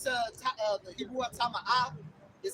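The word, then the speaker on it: טמא: Tama'ah. Tama'ah. There you go. That's it. You got it, bro. Go ahead. The definition is I'll read. I got it. Yeah, it's the Hebrew word tama'ah.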